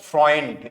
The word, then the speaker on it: Freund: नो, फ्रॉइंड, ईयू का sound eye होता है तो फ्रॉय, और एन आधा यूज होगा।